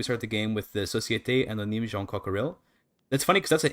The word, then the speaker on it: Jean Coquerel: So I always pronounce it like it's a French name, but it's an English name. But the I guess should be Société Anonyme John Cockerell, which sounds really fucking stupid.